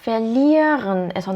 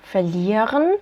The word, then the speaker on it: verlieren: 얘는 동사 verlieren에서 나온 표현이죠. 얘는 두 가지로 읽을 수 있어요. verlieren 이런 식으로 뒤에를 살려서 읽어줄 수도 있고요. 아니면 verlieren 뒤에를 완전히 뭉개서 읽을 수도 있어요. 둘 다 맞는 발음입니다.